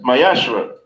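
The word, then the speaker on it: ma'aser: means Tiffin Hebrew and it's pronounced my ashra 10 of every penny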